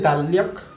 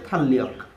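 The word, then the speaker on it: 달력: যেমন এটা হচ্ছে যেমন দ্বিগত, এটার আমরা অনেকে বলি যে দাল্লিয়ক মানে ক্যালেন্ডার, বাট এটার সঠিক উচ্চারণ হচ্ছে থাল্লিয়ক। এটার উচ্চারণ হবে থা বা থ, দ্বিগতের সাথে আকার থা, দ্বিগত প্রথমে থাকলে থ।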